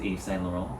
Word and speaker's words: Yves Saint Laurent: then we would still drop the the like the wrong like the t at the end i personally do know that this is eve saint laurent yeah right but like some